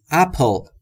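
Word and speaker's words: apple: ان یعنی یک سیب دوستان تلفظ اپل دقت داشته باشید بین پی و ال صدایی وجود نداره پس میگیم اپل پل پل مثل پیپل اپل اپل صدایی وجود نداره پس ما هم صدایی اضافه نمیکنیم اپل حالا شاید سوال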